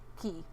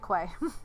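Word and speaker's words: quay: school they're building right across from the core key I almost said quite look it's spelled way but this pronounced key thank you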